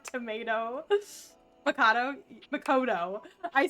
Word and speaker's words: Makoto: Can only hear the character from Persona 5 and her uh Makato. Mako. I keep calling her tomato. That's her name sounds like tomato. Macato. Makoto.